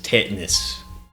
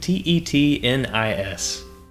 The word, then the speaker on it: tetanus: man, your word is tetanus." Okay, and I just thought in my head, well, sir, with the way you pronounced it, Tetnis. But of course, we know it is Tetanus.